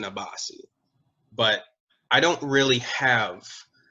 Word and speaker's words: Abasi: Tosin is his first name, Tosin, and then Abasi, Abasi is his last name.